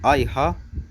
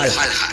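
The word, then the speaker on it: Häyhä: Este no es otro más que Simo Haija, también pronunciado Simo Haija, pero más conocido por su escalofriante apodo, la Muerte Blanca.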